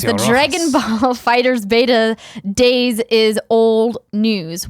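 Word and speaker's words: FighterZ: earlier kay bob says Dragon Balls game name is pronounced fighters like it's the 90s not fighters II they probably shouldn't capitalize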